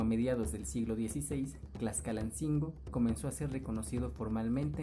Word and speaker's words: Tlaxcalancingo: La pronunciación correcta, según algunos abuelos que aún hablan náhuatl, es Tlaxcalancingo. Pero, con el paso del tiempo, la pronunciación se ha deformado y hoy la mayor parte de la gente dice Tlaxcalancingo.